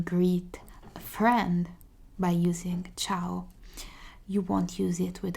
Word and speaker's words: ciao: it says which means hello and you can pronounce it as ciao it's exactly identical to hello you're entering in